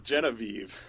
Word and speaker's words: Genevieve: It's Genevieve.